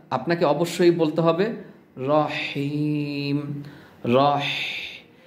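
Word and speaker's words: رحيم: আপনাকে অবশ্যই বলতে হবে রহিম রহি বাতাসের একটা সাউন্ড চেপে চেপে চাপ দিয়ে উচ্চারণ করতে হবে এভাবে রহিম রহিম দেখুন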